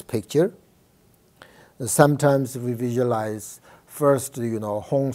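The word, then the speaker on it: hūṃ: You can visualize, this is Tibetan letter, but you can visualize English, Hong, H-U-N-G, Hong.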